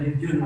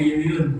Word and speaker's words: Jujun: Koleksi saya hanya satu ya, bukan Jujun, tapi Yuyun.